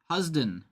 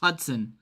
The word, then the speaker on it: Hudson: Next up, yielded home run number 274 to Ted Williams, Sid Husden. It's Hudson. It's spelled wrong on the card.